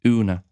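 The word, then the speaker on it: ionadh: She's going to use ena, but pronounce it una.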